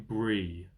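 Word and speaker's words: Bree: Uh, the pub's called the Prancing Pony, and it's in Brie, like the cheese, but it's spelled B R E.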